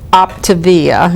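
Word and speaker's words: Optavia: So Jean works with a company called Optivia.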